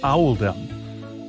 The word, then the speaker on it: Oldham: was made to reflect the pronunciation of Oldham in the local accent which is Owl them accordingly paying respects to